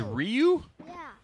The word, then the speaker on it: Ryu: right be Ryu it's Ryu it's pronounced Ryu yes it's Ryu no not that one